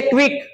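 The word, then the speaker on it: quick: silent हो गया acquire जैसे क्विक के से पहले क्या आ गया सी तो सी क्या हो गया साइलेंट हो गया इसके बाद हमारा तीसरा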